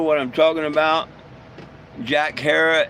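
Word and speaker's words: Herer: Hey, and if any of y'all not know what I'm talking about, Jack Hera, H E R E R, uh, rhymes with Terra.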